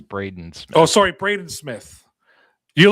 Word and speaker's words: Braden Smith: Mike, what are your thoughts on Brandon Smith? I think you pronounced it wrong. I think it's Braden Smith.